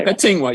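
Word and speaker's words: Akatingwaq: Akatingwa, yes.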